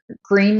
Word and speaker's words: Gruene: So let's go with Green, Texas, which is spelled like Groon, but it's Yes, you need green. spell it It's Gruene, and it right is pronounced green.